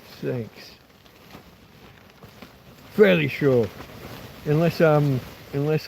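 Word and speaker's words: CeX: C E X completely but pronounced sex.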